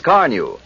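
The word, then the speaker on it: Carnu: new when you use Carnew." You'll be saying it yourself first time you use Johnson's car new on your car. Carneu is spelled C A R N U.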